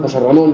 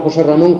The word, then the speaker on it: José Ramón: Por ejemplo, si yo pronuncio José Ramón, yo me llamo José Ramón, José pierde el acento.